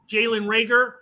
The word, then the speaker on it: Jalen Reagor: A couple weeks back, Jalen Reagor, did I get his name pronounced right?